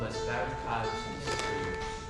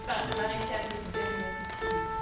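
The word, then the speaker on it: Barricades mystérieuses: It's called Les Barricades Mysterieuses. That's a very bad pronunciation. Gabby, how do you say the name of this property? Barricade mystérieuse. Much better.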